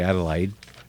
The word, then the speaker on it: Adelaide: how you do but this is Adelaide a delay think that's I pronounce it yeah well yeah the Aussies would say Adelaide I'd like I'd like yeah well they're right okay mark down point five